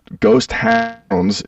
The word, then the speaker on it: Ghost Hounds: should check out the ghost Hound's new single between me and the devil that's I say it like that cuz people always think I'm saying ghost town but it's hounds like the dog like yeah I I